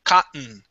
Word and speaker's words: cotton: What we can do is pronounce the double T as a silent T. We say cotton.